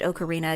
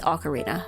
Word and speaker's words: Ocarina: Um, I also later this week I am streaming Ocarina of Time and I am streaming I pronounced it Ocarina again. Apparently it's Ocarina or so I've been told.